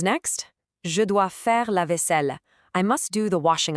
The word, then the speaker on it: vaisselle: Look at the spelling there, double S, double L. It's pronounced vaisselle. It's a very soft, sweeping sound, kind of like literally wiping a plate clean. I'm going to pause and let the whole classroom practice this phrase together.